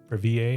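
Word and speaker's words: Breville: So, um I think maybe it's brevel. I think people call it brevel, but it's spelled like it's French. I feel like I should say bravier to show that I have some French culture.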